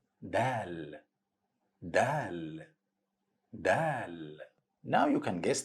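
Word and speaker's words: دال: alphabet is letter Dal Dal Dal now you can guess the pronunciation of Dal a same sound of the in English or letter D like in the word Dad it's easy to pronounce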